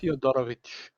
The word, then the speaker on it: Fyodorovich: Um, your father is not a fan of the Fyodorovics. So you sit there. Am I pronouncing that right, by the way? Fyodorovich. Which. Each. The IC is a ch. Okay, Because it's Slavic.